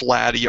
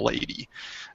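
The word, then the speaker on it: LADEE: and dust environment Explorer laddy and it is pronounced laddie arbitrarily rather than a lady don't ask me why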